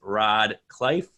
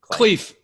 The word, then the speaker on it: Khleif: we're into episode number 81 with my guest rod life did I pronounce that right Cleef cleave it's all good I've been called worse John